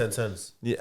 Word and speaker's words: Sentonz: you was to give me a name job sentence how do you say your name anyway yeah